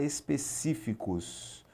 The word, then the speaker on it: específicos: E já em específicos, vamos separar aqui, ó, de trás para frente, específicos, você vai contar específicos. Sílaba tônica aqui é a antepenúltima, também uma proparoxítona.